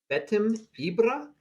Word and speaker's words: BetimIbra: We're going to have a one-on-one lesson today with BetimIbra. Did I pronounce that right?